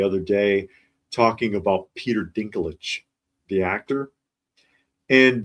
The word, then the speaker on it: Dinklage: And I saw one actually the other day talking about Peter Dinklage, the actor, and the AI could not say his name, and it was calling him Peter Dickin Legs.